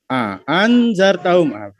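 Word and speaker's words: أأنذرتهم: Hanya panjang anzartahum tasyil alhamzah saniyah wa idkhalu alif bainihima.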